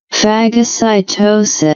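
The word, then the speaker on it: phagocytosis: See the pronunciation here. Fagocytosis.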